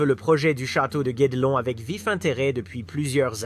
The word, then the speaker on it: Guédelon: Pour la prononciation, j'ai entendu Gordelon et Guedelon. Mais comme les Français disent Guedelon, je vais garder cette version.